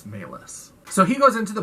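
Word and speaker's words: Malus: thing or whatever and his last name is maylis and i looked it up and it's spelled m-a-l-u-s so again talking about these movies not having subtle symbolism so his name is maylis which is just a couple letters off from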